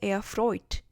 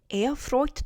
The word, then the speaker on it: erfreut: sehr erfreut 라는 표현을 꼽은 이유가 있어요. erfreut 때문인데요. erfreut 여기에 지금 오이 발음이 있잖아요.